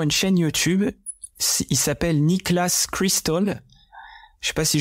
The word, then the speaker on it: Niklas: Je suis tombé sur une chaîne YouTube, il s'appelle Niklas Crystal. Je sais pas si je le prononce bien, mais c'est en gros Nicolas, mais sans le O, je crois.